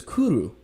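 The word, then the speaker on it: cwrw: word for beer is kuru and it's spelled cwr w. Say it one more time. Kuru. Kudu. C Wr. It is a word that in English does not have a vowel.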